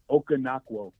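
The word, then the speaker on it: Okonkwo: Okanakwo. Okanakwo. Okay. Yeah, I heard him in an interview and he was talking about it. Okanakwo instead of Okan. Okay, yeah. A lot of people are saying Onokwo, Okanakwo.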